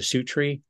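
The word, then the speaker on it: Suttree: of God and then in 1979 am I pronouncing this right is a su tree Sury is yeah Su tree and uh you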